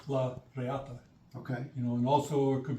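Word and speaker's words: la reata: The lariat. Yeah. Yeah. For those people who mutilate the Spanish language and call it lariat, it's properly pronounced. It's la riata.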